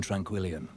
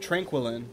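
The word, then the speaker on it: Tranquillien: Meet me in Tranquillion. I always pronounced it Tranquillin, because I just apparently ignore the I, but I guess it would be Tranquillion, huh?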